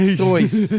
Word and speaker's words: Seuss: Big Dick Seuss. It's pronounced Seuss, by the way. I mean, everyone says Seuss, but apparently he pronounced the Seuss like a fucking, like an imbecile.